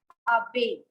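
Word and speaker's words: abeille: honeybee which is called, which has double L, but the word is pronounced as abe. Abe, and LL is silent, and a little sound of E in the end. So it becomes abe, abe.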